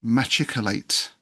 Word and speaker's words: machicolate: Now, the pronunciation of this word is under some dispute, but I've done extensive research and I've come up with what appears to be the consensus. Machicolate.